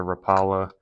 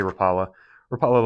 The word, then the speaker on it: Rapala: I believe it's a Rapala Rapala Rapa I know people pronounce it different ways but I say rala rala little jerk bait there